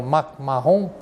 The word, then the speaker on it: MacMahon: troops, and he was, in French pronunciation, it's called General MacMahon.